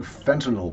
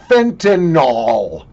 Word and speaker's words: fentanyl: them um you know we've got this big fentanyl Problem by the way for God's sakes I don't care Fox News CNN MSNBC CBS NBC ABC or anybody else for Christ's sake the drug is not pronounced Fentanyl look at the way it's spelled you freaking